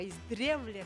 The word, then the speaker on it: издревле: Может быть так, да, вот потому что издавна ударение на первый, да, слог, а издревле как бы вот на средний, да, слог.